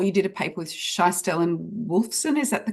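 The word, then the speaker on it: Schiestl: And speaking of vulnerability, in 2024, you did a paper with Scheistel and Wolfson. Is that the correct pronunciation?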